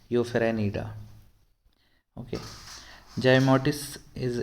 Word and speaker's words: Euphanerida: यूफेरेनिडा, इसका थोड़ा प्रोनाउंस ऐसा है, यूफेरेनिडा।